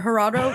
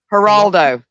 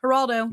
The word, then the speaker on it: Geraldo: one was Gerardo R herard Rivera say his name herard why can't I say his name you say it haraldo thank you haraldo it's not his real